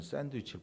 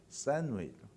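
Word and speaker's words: sandwich: 모퉁이에 애들이 좋아하는 서브웨이라는 샌드위치를 팔아요. 샌드위치라는 원어 발음은 샌웨이. 못 듣겠지요? 뭔 소리인지. 저도 몰라요. 미국 사람들한테 샌드위치 주세요 그러면 모른대요. 저 언젠가 TV에서 보니까 그 영어 가르치는 사람이 그러더라고. 샌웨이. 따라해봐요.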